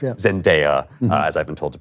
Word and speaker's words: Zendaya: Zendaya, as I've been told to pronounce it.